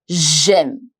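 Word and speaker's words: j'aime: you must know is Jim I like Jim it's very close to the pronunciation of the alphabet m in English J this is how you will remember I like Jim I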